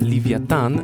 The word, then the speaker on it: לויתן: smok wielki krokodyl albo wąż morski dzisiejszym hebrajskim livyatan znaczy też wieloryb drugim stworzeniem jest behemoth od